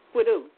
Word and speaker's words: squidoo: you say it is squidoo and that's how it is it's squidoo and I'll spell it